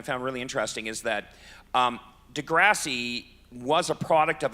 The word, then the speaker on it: Degrassi: to me they go it's not delivery its del grassy and I'm like isn't that the way it's said they're like no it's Degrassi and it like blew